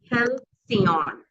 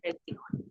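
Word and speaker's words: halcyon: And pronounced as hellion. Sorry not it's helion.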